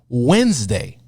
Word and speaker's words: Wednesday: Like take the word Wednesday. Wednesday. Can you spell Wednesday? Put you on the spot. WED. NES. NES. DAY. Why is it spelled that way?